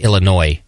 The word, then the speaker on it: Illinois: beer company in Chicago Illinois is with us today I guess uh Illinois don't pronounce the S you dummy uh I